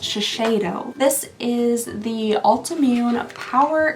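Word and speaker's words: Shiseido: Oh, shashidito. Oh, you know what? I did actually see a comment recently on my channel. Uh, someone said that it's pronounced shashedo.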